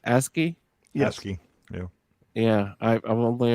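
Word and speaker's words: ASCII: you know for the is that how it's pronounce ASI asky yeah yeah I I've only ever seen it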